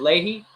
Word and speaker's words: Leahy: Max, you pronounce it Leahy? Yeah, Leahy. You're the first person ever to get it right.